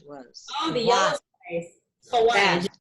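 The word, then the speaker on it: Hawaij: Hawaj. It's spelled in Hawaii.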